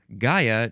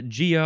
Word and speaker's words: Gaia: It's just from the Greek word Gaia. G A I A. So, that's kind of interesting. Uh, makes sense, though. And uh yeah, I guess we'll talk more about uh Gia or Gaia in the next episode when we